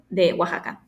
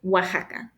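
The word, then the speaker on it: Oaxaca: without them now that I'm an adult anyways Waka and that's how you pronounce that Waka wakaa relates to the process the Spanish Conquest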